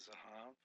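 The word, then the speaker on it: זהב: Z for the Zion, H for the Hay, and Vet, because it doesn't have a Dagesh in there, Vet, a B with a line up under it.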